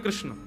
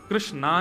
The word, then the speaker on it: कृष्ण: एकाग्र नहीं है कृष्ण कृष्णा नहीं कृष्ण ठाकुर जी का नाम